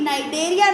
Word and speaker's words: Cnidaria: बहुत इंपॉर्टेंट चीज़ है कि नाइडेरिया नाम इसीलिए है क्योंकि यहाँ नाइडोब्लास्ट या नाइडोसाइट सेल्स होती, सी साइलेंट है इसलिए नाइडोब्लास्ट या नाइडोसाइट सेल्स होती हैं।